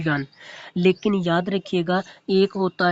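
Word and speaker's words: yuan: China का capital Beijing है और इसकी जो करेंसी है वो है जी यू वाई यूए एन इसको प्रोनाउंस करते हैं यन लेकिन याद रखिएगा एक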